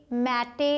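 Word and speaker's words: mate: कर रहे हैं हम, इसे फैटे मैटे ऐसे तो नहीं बोल रहे हैं, हम बोल रहे हैं मेट फेट, तो इसका साउंड यूज़ नहीं कर रहे हैं, तो ये यहाँ पर साइलेंट है.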